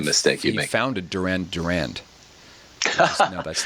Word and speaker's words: Durand: say his last name I believe it's Durand Durand not Durant yeah I think that's